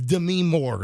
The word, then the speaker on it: Demi Moore: How do we not know how to pronounce her name? This many Anyway, years I think later? it's Demi Moore is how you say it.